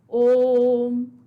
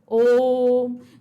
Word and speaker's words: ओम: अब यहां पर देखिए, अब ओम का उच्चारण जब होता है ओम, हम ऐसे नहीं बोलते ओम करके तो नहीं छोड़ दिया ना, हम क्या बोलते हैं? ओम।